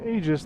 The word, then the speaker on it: Aegis: In Aegis, the AE can pronounce as a long E or a long A.